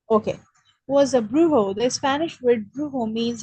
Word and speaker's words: brujo: The Brujo, Spanish word, brujo. In Spanish, the okay, J is pronounced as an H. okay, was a brujo.